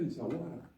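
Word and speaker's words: Essaouira: Yo no voy a discutir contigo que Souira, ¿cómo se pronuncia? Insawara.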